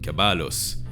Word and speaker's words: caballos: Some words had the stress on the penultimate syllable, like in caballos, and we know this because in French this word gave us cheval.